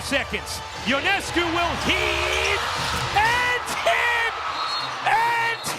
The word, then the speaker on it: Ionescu: If you didn't see this shot by Sabrina Ionescu, did I pronounce it? It's no, it's Ionescu. Ionescu.